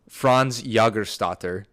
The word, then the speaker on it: Jägerstätter: This is Franz Jägerstätter.